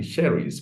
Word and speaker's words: Cherice: But now I heard you Cherice pronounce that.